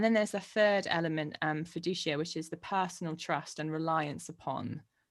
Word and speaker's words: fiducia: The first one is notitia, the second one is assensus, and the third one is fiducia, or fiducia. You could pronounce that with a hard C if you wanted to.